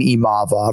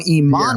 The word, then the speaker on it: Imavov: I mean, you're emphasizing the right syllable, but now you're changing a V to an N, and we're completely off the rails.